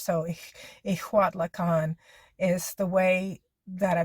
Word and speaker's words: Ixtlahuacan: I hope I'm saying, I think, because IX is always the same as an IJ would be in Spanish. So an X and a J are always H, pronounced as an H. So Ixtlahuacan is the way that I believe it's pronounced.